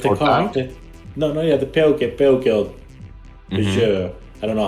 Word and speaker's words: Peugeot: Peugeot. I don't know how to pronounce it.